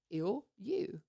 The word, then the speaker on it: Ilyu: I said, Ilyu. Like you're ill and you.